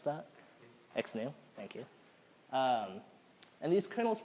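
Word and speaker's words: XNU: Anyone know how to pronounce that? XNew, thank you.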